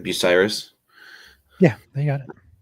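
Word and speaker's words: Bucyrus: or sorry north of uh how do you pronounce that city name the be Bell Fontaine nope in Crawford County it's like buyus yeah they you got it perfect um if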